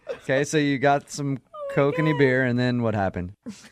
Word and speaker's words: Kokanee: Oh, Kokanese? Kokanee, you mean? Kokani, whatever. I don't know. Is that how you pronounce it? Yeah, kokanee.